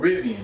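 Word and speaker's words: Rivian: vivian i mean oh i've been saying the damn name on this riven not revealing i've been spelling it wrong and saying it wrong so it's called ribbian none of y'all said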